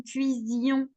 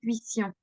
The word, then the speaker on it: cuisions: très simple parce que quand je le prononce tu as vu je dis nous cuisions donc je dis pas nous cuissions ok d'accord donc quand